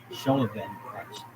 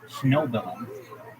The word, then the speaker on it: Schnobelen: This guy Bill Shoven, let me say his name correctly. Schnobelen.